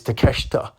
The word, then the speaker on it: Takeshita: a is how his name is spelled but it's takeshita um I think the